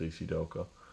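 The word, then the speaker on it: ACDelco: CDL code AC Delco thanks pronounced AC Delco anyways by a hundred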